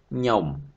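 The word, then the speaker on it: ខ្ញុំ: But for speaking, you will not hear sound K first before. So we always start with nyom, nyom. So yeah, when you speak, okay, just say nyom, nyom. No need to pronounce K.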